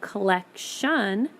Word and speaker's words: collection: the sound and collect when you say collect the last sound you hear is the T sound but when you add the IO n and you say the word collect shun you hear the sound